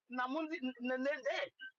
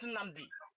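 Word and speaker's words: Nnamdi: of Igbo pronounce Mazin Namdi Kanu. Namdi. They will tell our children his name is Namundi, not Namdi.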